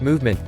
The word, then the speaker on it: MVMT: Even though the brand is pronounced Movement, their official website does not actually boast about the movement of their watches.